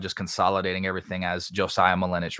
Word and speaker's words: Malinich: Malinich is how you say it, like spinach.